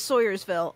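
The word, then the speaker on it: Swoyersville: It is Sawyersville. I will tell you, Liam, I have heard that pronunciation for this town before.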